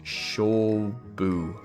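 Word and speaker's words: 勝負: loss means a fight and it's pronounced show boo thank you ift clerk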